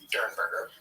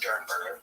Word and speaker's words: Derenberger: I thought it was Durenberger, but I did hear, I think in the interview that we're going to have some excerpts from tonight, I heard it pronounced Dernberger. It's spelled like it's Derenberg. It is spelled Derenberger, but I think it's Dernberger.